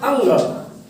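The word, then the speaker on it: ङ: तो क वर्ग में 5 वर्ण हैं, क ख ग घ अंग। अंगा नहीं होता, अंग अंग अंग, है ना? यस सर। अंगा नहीं, अंगा प्रोनाउंसिएशन गलत है।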